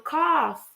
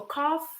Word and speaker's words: cough: So cough is different than coffee. So cough is like cough. Coffee it's what you drink.